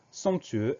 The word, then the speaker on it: somptueux: On fait attention à ce son ON qui s'écrit OM, et au son E de la fin du mot qui s'écrit EU, et à la lettre muette X, somptueux, SOMPTUEUX.